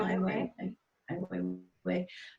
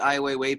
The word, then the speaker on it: Ai Weiwei: Ai Weiwei.